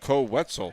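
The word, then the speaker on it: Koe Wetzel: There's an artist named Co Wetzel, and it rhymes with pretzel, so it would be great if we were able to work that.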